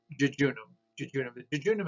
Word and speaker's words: jejunum: an e and then and that's would be pronounced jejunum is actually the second portion of the small